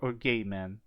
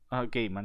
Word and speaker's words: Gaiman: How do you pronounce his last name? Gaiman or Gaiman? Gaiman.